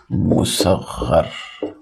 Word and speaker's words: مصغر: دیکھیے، مصغر نامی ہے۔ مصغر، یہ صحیح تلفظ ہے اس کا، مصغر۔ اس کے مقابل میں